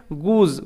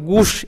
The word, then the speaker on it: goose: উ টাইপের উচ্চারণ হয় গুজ। গুজ এস এর উচ্চারণটা জয়ের মতো হচ্ছে, শয়ের মতন নয়, কিন্তু গুস এরকম নয়, গুজ।